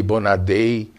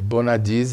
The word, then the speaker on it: Bonadies: Meu nome mesmo, Bonadies, tem várias versões aqui no Brasil, viu? Eu já escutei Bonadei, Bonadai, enfim, Bonavides, e Bonadies é o original.